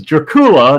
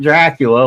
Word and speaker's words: Dracula: His last name was Dracula, not Dracula, like everybody pronounces today.